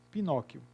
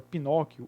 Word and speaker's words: Pinóquio: Agora, o Q com U não é pronunciado.